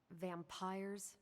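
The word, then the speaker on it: vampyres: Vampires with a Y, pronounced exactly the same as vampires.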